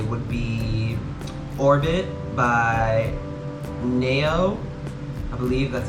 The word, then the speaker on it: Nao: But another song I would say would be Orbit by Nao. I believe that's how you say her name. It's spelled N-A-O.